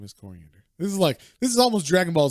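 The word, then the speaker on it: Koriand'r: Yeah, but also then I found out her name is Coriander. Kor. Yeah, so it's like not spelled the same as the spice you might know as cilantro or the lettuce or whatever the fuck it is. But yeah, like sounds like coriander, which is ridiculous that her name is Coriander.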